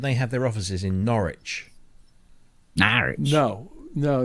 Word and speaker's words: Norwich: There's as it's pronounced here, Norwich.